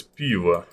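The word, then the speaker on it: пиво: If you would like to spell it, it would be like P-E-E-V-O. So yeah, it starts with P, and it's like, I know it sounds weird, like P, piva, but that's how we call it.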